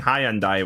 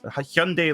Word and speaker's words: Hyundai: row for the pronunciation i've been saying hyundai which is a of course a very british way to pronounce it so i'm very sorry tyler i'm so sorry hyundai i need to get into the hyundai hyundai like sunday uh to to get